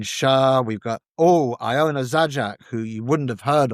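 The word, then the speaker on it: Zajac: Most of the singing, as I say, we've got Lisa O'Neal, we got Nadine Sha, we've got Oh, Iona Zajak, who you wouldn't have heard of, but you should be aware of.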